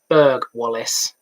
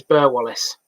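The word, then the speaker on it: Burghwallis: If you don't know what that means, the Doncaster village of Berg, it's Burg-Wallace. So say the residents. There's a bit in the video where I ask how it's pronounced because I've always known it as Burr-Wallace.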